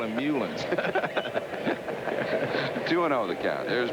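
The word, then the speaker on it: Meulens: how he pronounced his name how his mom pronounced it he said hencely murlings try that one murlin that was good all right i'm gonna call him mulans two 2-0 the cat there's marfield at first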